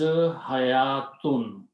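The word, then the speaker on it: حيوة: Vav is silent. It is not pronounced, it is written only.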